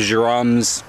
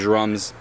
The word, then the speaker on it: Djarum: A lot of people call them jer. It's spelled with a djarum, but I call them jerums.